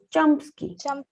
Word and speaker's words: Chomsky: ¿Cómo se pronunciaba, profe? Chomsky.